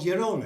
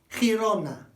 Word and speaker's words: Girona: above Barcelona, it's called Girona. It's not, it's called Girona, Girona, Girona. Notice, wide mouth, short delivery, short legs, not Girona, That will never be understood. Girona. So it's chi.